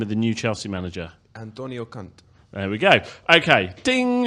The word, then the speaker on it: Antonio Conte: So Chris Mendes, for the benefit of everyone, how do we pronounce the name of the new Chelsea manager? Antonio Conte.